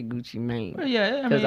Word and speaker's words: Gucci Mane: I don't know why people still say Gucci Man. It's Gucci Mane. You got to add the E in there. No. The E is silent. Just make it the long A sound.